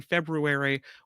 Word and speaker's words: February: husband the Afterparty live if I don't pronounce the r in February or the th in clothes yes February has a brew in it library has a rare in it and clothes has a th in it so that's how we